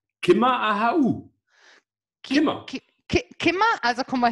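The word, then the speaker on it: Ciamar a tha thu: Und es wird ausgesprochen ganz einfach: Kimmer Ahau.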